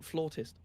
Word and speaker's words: flautist: It's pronounced flautist.